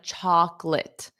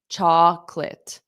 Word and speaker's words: chocolate: So notice that pronunciation of chocolate. Chocolate. Okay, that middle O is not pronounced.